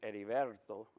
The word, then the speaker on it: Heriberto: But I walk in, and she starts trying to pronounce my name. It's Heriberto.